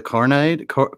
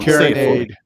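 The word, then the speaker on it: carronade: Battles of the Carnide. See, I'm going to say it wrong. Carinade.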